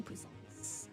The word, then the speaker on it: puissance: however, Puissance. puissance is an acceptable pronunciation.